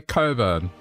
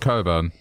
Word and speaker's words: Cockburn: yeah it's cut that we say Coburn it's spelled cockburn but you know uh it's it's pronounced Coburn imagine having that as